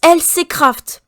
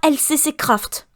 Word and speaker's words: LCCRAFT: Ça se prononce LC Craft, pas LCC Craft.